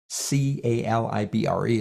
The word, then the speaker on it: calibre: downloaded and it is free it's called calibre CA libr e it's pronounced calibre and if I open that one